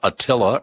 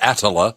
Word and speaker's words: Attila: a metal band called Attila or ass Allah depends on how you like to pronounce it here's Wonder Woman the